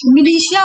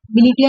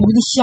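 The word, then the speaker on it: militia: party cell party और मिलिशिया बोला जाता है इसको मिलीिशिया मिलिटिया नहीं बोलेंगे मिलिशिया प्रोनाउंसिएशन होगा इसका ठीक है अच्छा ये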